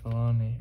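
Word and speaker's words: Filoni: also i heard dave fellaini i think it's like you say his name i think that's how you say it baloney the guy that made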